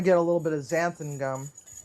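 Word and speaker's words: xanthan: So, um, you'll want to get a little bit of zanthan gum. And you can buy that on Amazon. It's spelled X A N T H A gum.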